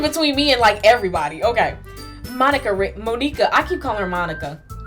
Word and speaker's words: Monika: Okay, let me pronounce it right. Okay, Monika, that I was practically dragged here by Sayori.